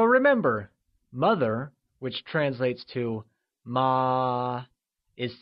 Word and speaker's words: má: Ma, meaning hemp, carries the second or the mid-rising tone.